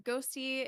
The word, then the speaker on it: 6HOSTII: Yeah, I'm Ghosty. It's spelled 6HOSTII, and I'm on YouTube and X.